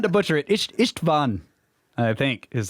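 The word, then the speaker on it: István: s in rush and the a is like a in car a quick hungarian lesson but i don't mind you butchering my name ha-ha-ha-ha-ha so i try not to butcher it ichtban i think is how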